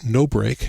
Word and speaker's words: nobr: And it's called NoBreak, and it's spelled N-O-B-R.